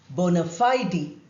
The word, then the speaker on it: bona fide: A very commonly used Latin phrase is bona fide. Two words, look at the spelling. But in American English, it's also pronounced as bona fide. The last E is also pronounced.